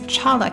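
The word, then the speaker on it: cholla: And I realized I was pronouncing it wrong. It's chala cactus, not cola cactus.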